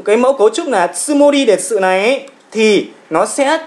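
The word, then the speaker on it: つもり: Các bạn lưu ý nhé, chữ âm này của chúng ta tsumori chúng ta đọc rất là nhẹ thôi.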